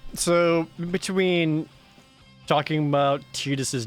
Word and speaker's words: Tidus: All right, so between talking about Tidus's name, I do a whole live action bit about how his name is Tidus and not Titus, and that sounds stupid.